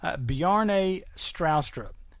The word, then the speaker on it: Bjarne Stroustrup: this is from, and watch this name here, Bjarne Stroustrup. Okay, now that is the Tennessee pronunciation of a name that's obviously not from around here anywhere.